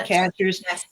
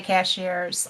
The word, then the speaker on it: Cashiers: And again, it's sky ships over cashers. Cashers is spelled just like a cashier at the grocery store. And I still say cashiers. I And I know it's not.